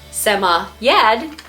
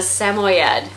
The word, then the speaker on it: Samoyed: So Yeti the Sammy Ed, Yeti the Samoyed, Yeti the Samoyed.